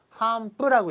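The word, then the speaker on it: 頒布: 그래서 이 시험 요강에 대한 어떤 그 반포를 그 안내하겠습니다라는 건데요. 이거 반자를 어떻게 읽느냐래요. 반자. 이거는 한이라고 일단 읽어주시고요. 포자는 뿌예요. 그래서 이건 시험 문제 아주 곧잘 나왔던 겁니다. 한뿌라고 읽어주시면 돼요.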